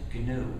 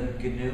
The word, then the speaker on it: GNU: Please pronounce it GNU with a hard G. If you pronounce it new, you'll get people confused.